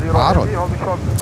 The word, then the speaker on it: Aaron: And it's pronounced Aaron. Aaron. Oh, I see. Okay, I'm so sorry that I butchered your name, Aaron.